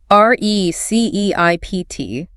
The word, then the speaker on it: receipt: R-E-C-E-I-P-T. The P is completely silent. Wow. English really loves keeping old silent letters. So you just say receipt.